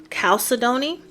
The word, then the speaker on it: chalcedony: Those stones are jasper, sapphire, excuse my pronunciation, but I believe it's pronounced chalcedony, chalcedony.